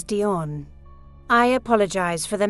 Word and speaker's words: Dion: and Legend episode 2 Diane Fortune the actual pronunciation of this name is Dion I apologize for the